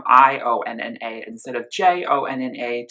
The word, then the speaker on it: Jonna: She spells her name I-O-N-N-A instead of J-O-N-N-A to make it actually pronounced in the Swedish way, Jonna instead of saying Jonna, like a lot of probably English people would probably say otherwise.